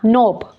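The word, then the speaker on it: knob: night के इसमें भी साइलेंट है इस तरह नोब नोब इसमें साइलेंट है बिस्मिल्लाह रहमान रहीम अब देखें कुछ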